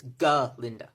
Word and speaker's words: Galinda: She's mostly annoyed because he keeps mispronouncing her name. He keeps calling her Galinda, and she keeps correcting him. It's Galinda, with a G.